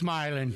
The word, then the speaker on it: Milan: That's where we, It- Milan and Milan. If you're, you know? yeah. No, it's Milan.